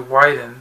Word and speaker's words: Widen: the story of course was created by gregory wyden yeah it's pronounced white and not win i know yeah